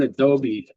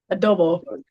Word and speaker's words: adobo: If you can't pronounce the food, are you allowed to eat it? So I make my own adobe sauce. I mean, not adobe, um, spice. Adobo.